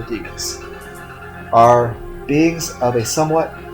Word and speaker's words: daemons: These creatures mortals call demons, or daemons, depending on how you want to pronounce it. I prefer demons.